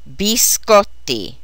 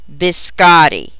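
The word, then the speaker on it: biscotti: flat American English pronunciation the Italian word for cookies is said bisotti not Botti pronouncing Italian correctly is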